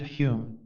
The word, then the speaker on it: Daniel Dunglas Home: sensation of being hypnotized Daniel dunglas home he pronounced it Hume was born near Edinburgh